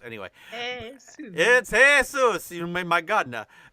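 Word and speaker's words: Jesús: hate shoes but no I know it's pronounced hay-soos I mean but it's spelled Jesus anyway hey yeah hey soos you made my god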